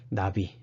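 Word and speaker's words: נביא: 자, 예언자란, 나비. 예, 히브루로 나비입니다. 히브루로 나비. 이걸 나비라고 읽어요. 나비.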